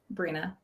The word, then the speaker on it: Brena: close uh brina so my name is pronounced brina very nice is it